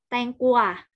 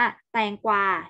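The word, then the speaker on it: แตงกวา: ที่ คู่ ใคร บอก บาง คน อ่าน แตง กลัว แต่ มัน ต้อง อ่าน ว่า แตง กวา ใช่ ไหม มั้ย กว่า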